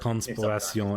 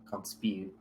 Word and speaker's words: Conspiration: Oh, Conspiration Entropique. No, it's like Spire. Conspiration.